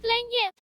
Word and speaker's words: lagniappe: It's pronounced lagniappe. It's a Lagniappe. French term that means a little something extra, like a small bit. Ooh, it's Cajun.